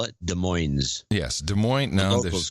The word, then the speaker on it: Des Moines: don't ah yes so I'm here in a Des Moines Iowa John as they like to call it Des Moines yes Des Moines now this was called Des Moines they do not they absolutely do not call